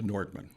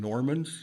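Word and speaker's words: Nordmann: I said, "It's a Nordman." Okay. So, and of course, they can't pronounce it. And it goes anywhere from Normans to Nordic to Noodlemans.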